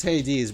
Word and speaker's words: Hades: I guess it's Hades because I should have heard it in like the Hercules cartoon or something.